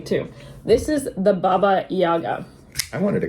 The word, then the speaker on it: Baba Yaga: to call it the baby Yaga well I think we want to say like baby Yoda but Baba Yaga we just want to say anything but the real pronunciation okay yeah this thing